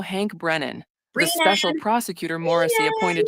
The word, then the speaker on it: Brennan: Brennan, who previously defended Whitey Bulger in federal court, She's not saying it right. It's Breenan.